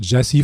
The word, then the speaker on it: Gyasi: hell proun so why the the title pronounced Jesse for this album in particular because it's not